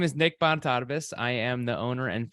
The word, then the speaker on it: Bonitatibus: in what areas you know it's considering I butchered your intro already oh good yes so my name is Nick bantarbus I am the owner and founder of digital